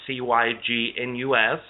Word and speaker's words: Cygnus: He would refer to this being as Deneb Cygnus, and that's Cygnus. A lot of people, in my pronunciation with my southern accent, they say, sounds like I'm saying sickness.